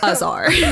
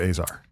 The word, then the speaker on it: Azar: And regardless of how they would pronounce it in Lebanon, you pronounce it Azar. Yes. I'm assuming your dad pronounces it Azar. He does, yeah. I mean, if he's speaking Arabic, it's pronounced differently, but when we're speaking English, we say Azar.